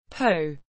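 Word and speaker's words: 瓿: Po, pronounced bu in China, a small bronze weng,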